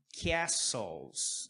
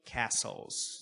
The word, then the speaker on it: castles: Castles. Não falamos esse T. Não tem essa pronúncia do T. Castle, castles, tá bom?